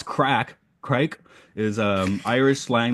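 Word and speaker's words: craic: c's instead of K uh let's see Craig pronounce crack CRA is um Irish slang that meets fun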